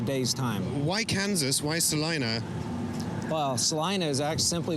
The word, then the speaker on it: Salina: A place called Salina, Kansas. No, not Salina. It's pronounced Salina here.